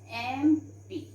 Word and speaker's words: MP: Okay, so here we write an MP, because children, though it is starting with consonant letter, but the sound we are having here is vowel sound, so we put an MP.